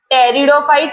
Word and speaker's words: pteridophyte: Next gymnosperm, टेरिडोफाइट, P silent है, and then ब्रायोफाइट्स, right. Major group name quickly tell me first. Bryophyte, pteridophyte, gymnosperm and angiosperm.